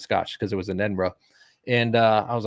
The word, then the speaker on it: Edinburgh: That's how you say it, Edinburgh, and then 2 days in Dublin.